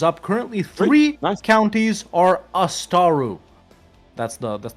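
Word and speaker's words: Ásatrú: Currently, three counties are Astaru. That's the correct pronunciation, by the way.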